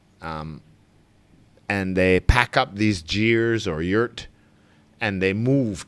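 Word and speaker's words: ger: And then in Mongolia, northern China, and possibly Siberia, Russia, I think they're called jeers. Jeer, I think, is the proper pronunciation. But some people pronounce them gears and a gur.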